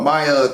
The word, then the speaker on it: Maja: Chosen by Maya to be, her name is spelled M-A-J-A, if I said Maja, but Maya to be like her vessel